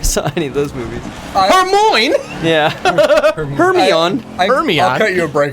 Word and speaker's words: Hermione: I pronounced Hermione's name wrong for like the first 4 books before I saw any of those movies. Hermione.